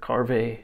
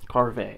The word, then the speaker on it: Karve: Karve. I believe that's how you say it. I heard Matt Pisarsk last week on his YouTube channel say Karve.